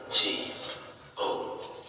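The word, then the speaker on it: Django: Jango. The D is silent.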